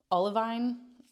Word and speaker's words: Olivine: is in the color Olivine Olivine o l i v i n e I would pronounce that oline I feel like it's